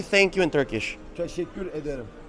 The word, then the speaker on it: Teşekkür ederim: Teşekkür ederim. Teşekkür ederim.